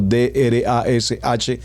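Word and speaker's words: דרש: seguidamente tenemos el drash como lo estoy pronunciando d r a s h drash y finalmente el sot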